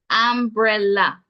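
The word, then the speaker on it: ambrela: look at number eight the pronunciation is umbrella umbrella hence the spelling a m b r e l a am short a sound bre short e sound and La short a sound this one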